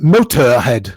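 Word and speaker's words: Motörhead: That's in Motorhead. Yes. They put umlauts, but we don't pronounce it Motorhead, Yes.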